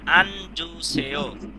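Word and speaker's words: 앉으세요: এখন কি লিখছি আনজুসে এখানে এসে জ উচ্চারণ হবে আঞ্জুসেও আঞ্জুসে বসুন আঞ্জু শব্দের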